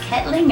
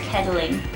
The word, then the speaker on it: Kettling: record my favorite song is it pronounced kettling or Kling uh depends where you're from really your first pronunciation